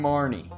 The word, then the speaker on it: Marnie: I'm Marnie. Kinda rhymes with Barney.